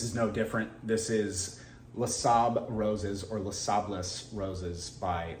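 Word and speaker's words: Les Sables Roses: no different this is lasab roses or los sables roses by louis vuitton if anybody knows i think it's le saab roses um and the s is silent on the end correct me if i'm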